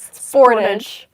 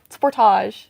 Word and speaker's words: Sportage: Is the way you pronounce Sportage a Canadian thing? I just read that one too. I hear it said differently here in the States. So actually, it seems to be the States who are the only one that pronounce it as Sportage. Like the world is Sportage. everyone else is saying Sportage.